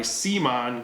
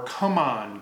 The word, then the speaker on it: CMON: look at dragon castle by seaman games or come on games depending on who you are and how you like to pronounce it so C Mon games